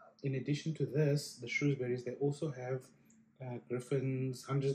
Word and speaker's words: Shrewsbury: Is that how you pronounce it? Shrewsbury? Shrewsbury, yeah.